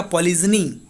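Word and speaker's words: polygyny: इसका प्रोनाउंसिएशन होता है पॉलीगैमी, और इसका पॉलीजनी जनी, ठीक है।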